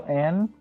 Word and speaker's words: Ann: See, or I guess it's On. I don't know. I didn't play the dub, and they said it was On. And then they say it like that in there. But I just said it as An. My head, like I played the sub version. Yeah, it's not anything I'd fight anyone on, but yeah, they pronounce it as On in fucking the dub.